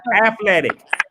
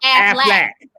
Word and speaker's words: athletic: Athletic. No, that's athletic. Athletic. What is wrong with everybody? You know what? I don't like when people put too many syllables in athletic.